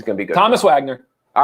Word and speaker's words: Wagner: So they pronounce it Wagner, like Morgan Wagner. Okay. Mo Wagner. So I want to say Thomas Wagner, but it's Wagner.